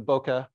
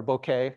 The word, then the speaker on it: bokeh: light this is uh the bokeh that or bouquet however you want to pronounce it is just reflecting its